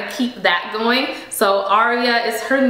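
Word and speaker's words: Aaria: Her name is Aria. It's spelled A-A-R-I-A.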